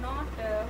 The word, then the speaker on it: know: What is the pronunciation? Knob. Not knob. K is silent letter.